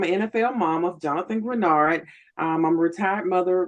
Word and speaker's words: Greenard: wrote this amazing book The Mamer of Jonathan grenard am I saying it saying it right that's correct granard okay cool NFL defensive end he was with